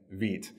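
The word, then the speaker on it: Vite: into view so introducing Veet if you haven't heard about it um it's pronounced David it's French for fast as Evan U has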